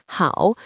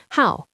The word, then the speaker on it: 好: Note that while good is pronounced with the third tone how, when this character means to be fond of or to like, it is pronounced with the fourth tone how.